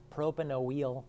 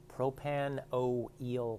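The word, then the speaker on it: propanoyl: then we add chloride this substance is prono pronounced propanol chloride kind of like oh eel okay propanoel chloride it's very awkward even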